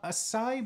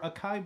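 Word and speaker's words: açaí: point that is uh acai blueberry or Akai blubbery depending on how you pronounce it I get a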